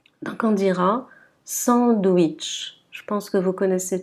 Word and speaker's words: sandwich: Par contre, quand la lettre W est placée au milieu du mot, elle va être prononcée W. W. Donc on dira sandwich.